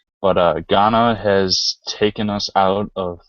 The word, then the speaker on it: Ghana: It is Ghana, just so you don't feel Okay.